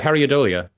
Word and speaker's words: pareidolia: And just incidentally, out of curiosity, that second album, I'm not quite sure how to pronounce that Pareidolia. Pareidolia.